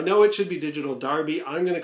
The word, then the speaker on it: Derby: I'm going with the one from the 1970s, Digital Derby. And I know there's going to be a lot of UK watchers who are going to say, even though it's spelt D-E-R-B-Y, it's actually pronounced Darby.